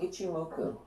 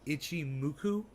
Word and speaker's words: Ichimoku: say that again we it's called ichimoku itchy muku yeah there's so many